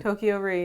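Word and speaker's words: Toko-Ri: times, The Bridges of Tokyo Ri, am I pronouncing that? Tokyo Ri, yeah.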